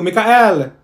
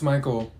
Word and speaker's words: Michael: did she say you mean Beatrice thank you Mikhail ma'am it's Michael okay what about slow is that you no